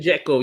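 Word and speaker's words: Džeko: me, yeah, when they ask me how to pronounce his name, I said just call him the way you call Michael Jackson, Jekyll, but kind of just Jeko. a little bit slower, Jekyll. That's that.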